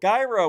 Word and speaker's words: Gyro: Sky Allen said hello gyro with the hard G welcome to this show